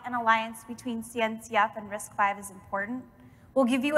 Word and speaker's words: RISC-V: i left to join risk five international risk five we'll get it we'll say it correctly here for the video one of the fastest